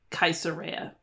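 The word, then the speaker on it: Caesarea: sound Noah cartago tingi this is spelled cesaria but it would really be like kaisera and then let's kind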